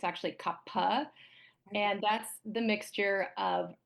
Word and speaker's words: kapha: Sometimes it's pronounced kapha, but it's actually kapha.